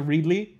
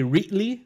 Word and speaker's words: Reedley: Or when people say, yeah, well, that one, but like because we're from here, Reedley, a lot of people will say Reetly.